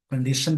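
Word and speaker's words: condition: Growth noun है, कंडीशन भी noun है, इसके लास्ट में TION है। इस वर्ड का प्रोनाउंसिएशन हो जाएगा कंडीशन, शन हो जाएगा शाम वाला श।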